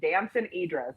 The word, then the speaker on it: Damson Idris: I've gotten his name wrong every single time I've said it, but it's Damson Idris, and he's great.